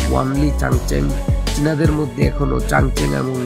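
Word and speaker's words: 万里长城: যার চীনা উচ্চারণ হলো ওয়ানলি চাংচেং।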